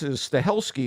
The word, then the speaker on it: Stahelski: I guess Stahelski is the way you pronounce the guy's name.